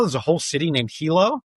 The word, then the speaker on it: HiLo: I said, "Well, no, Hilo." It's like, "Oh, so it's not Hilo like the city in Hawaii.